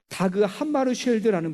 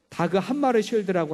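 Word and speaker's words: Dag Hammarskjöld: 제2대 유엔 사무총장을 지낸 다그 함마르쉘드라는 분이 있어요. 발음하기가 좀 어려웠어요. 이게 스웨덴어기 때문에 자꾸 닭 한 마리 자꾸 그렇게 발음이 돼요. 다그 함마르쉘드라고 하는 분이 있습니다.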